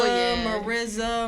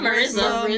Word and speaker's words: Mirza: Bro, You probably could I was just like, Nah, just like how people, Mirza, Not Marissa. Maria, Marissa. bro, the list goes on.